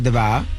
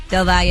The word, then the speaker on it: Del Valle: Yeah, and then last night, shout to Sasha Deval. Del Valle. Del Valle.